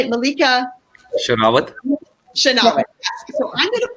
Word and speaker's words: Sherawat: Sherawat.